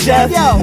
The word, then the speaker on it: Xhef: It's pronounced Xhef.